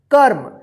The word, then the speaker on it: कर्म: क म के ऊपर क्या है, रेफ की मात्रा है, तो इस रेफ की मात्रा जो है ना क के बाद आधा र उच्चारण होगा, जैसे क्या पढ़ेंगे इसको, कर्म।